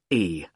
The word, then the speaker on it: Carlisle: It's Carlisle. You don't pronounce the S.